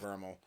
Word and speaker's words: VRML: inside and outside of Vermal. And yes, it's credit to Andy W for introducing me to the proper pronunciation of VRML. It is Vermal, of course.